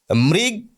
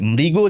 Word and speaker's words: মৃগ: বিদ্যাসাগর মহাশয় জানতেন তৃণট এই শব্দটিকে কেউ যেন তৃণ উচ্চারণ না করে। মৃগ কেউ যেন না বলে। মৃগও যেন বলে। অর্থাৎ শেষে ও উচ্চারণ করতে হবে এবং এই উচ্চারণের সমস্যা হতে পারে বিদ্যাসাগর সেটা জানতেন।